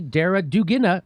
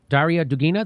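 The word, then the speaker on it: Darya Dugina: and all this stuff about her most recently dara dugina how do you say that name arya dugina daria dugina the daughter of an ally russian president vladimir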